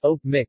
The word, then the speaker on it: Öçpoçmaq: ah Mack or cyrillic cpap Mack pronounced oak Mick literally triangle is a Bashkirs and toot our